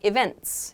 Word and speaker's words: events: So the T is pronounced, it's just kind of softened.